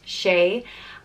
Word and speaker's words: Shea: the next name is Shea just pronounced Shea and the meaning of